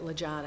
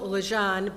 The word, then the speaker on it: Legendre: the police officers to get the correct pronunciation of her name because it's spelled Legendre. And it's difficult to get Lejon out of that.